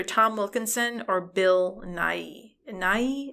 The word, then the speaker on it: Nighy: Nighy, is that how you say his name? Oh yeah.